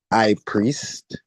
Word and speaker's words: Ipriest: But just like a gadget like an iPhone or an iPad Mhm. it's I priest.